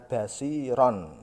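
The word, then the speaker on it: بصيرا: Tanwin atau fathah ten tadi, ini diganti dengan fathah saja. Tanwinnya hi, lang. Contoh sami'an basiron menjadi sami'an basiro. Tanwinnya hilang, tanwin yang ada di kata basiron.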